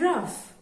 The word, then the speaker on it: rough: Cutting wood all day made his hands strong and raw. One day... That's rough. Spelled the same as the other? O-U-G-H?